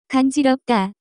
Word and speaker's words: 간지럽다: The pronunciation of this word is closer to 간지럽다.